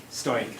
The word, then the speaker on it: STOIC: I'm not sure how to pronounce the first. Stoic or Stoic. Stoic.